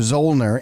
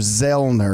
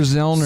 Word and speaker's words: Zoellner: If you go back to the German, the O's not pronounced, which is why I go by Dr. a lot, because everybody wants to call me Dr. Zoellner, and it's really Dr. Zellner.